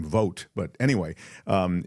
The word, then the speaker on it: Vought: This guy Russell it spell it looks like it would be Vought. I think he pronounces his last name Vote.